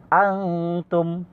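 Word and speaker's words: أنتم: এবং কি এটা আন হবে না, এটা আং হবে।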